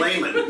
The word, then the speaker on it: Lehman: We're here with Lehman, managing editor. Pronounced properly, by the way, which it often is not, but Thank it's you very very- good. thank That's you right. very Thank much. you. Layman, not.